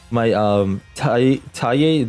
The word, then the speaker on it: Taia: The reason why I went into the Mo Ye is because all my taia, that's how you say it, taia, is in the graveyard.